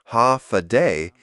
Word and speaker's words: Hafa Adai: Step foot on Guam and you'll hear one word again and again, Hafa Adai. Pronounced Hafa day, it means hello in Chamorro, but it's more than that.